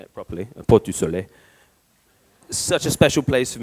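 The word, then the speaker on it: Portes du Soleil: Many, many trips in Châtel and Avoriaz, and I'll say it properly, Port du Soleil.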